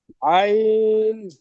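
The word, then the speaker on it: عين: দেখেন বদরুল ভাই এই হরফটির উচ্চারণ এরকম হবে আইন আইন আ টান হবে না আ টান হবে না শুধু মাঝখানে টান হবে আইন আইন জি নুন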